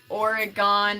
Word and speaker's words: Oregon: Oregon, as an Oregonian, the way that you pronounce Oregon, and you cannot tell me that I'm wrong about this, because I'm literally from Oregon. You say it the exact same way as the organs in your body.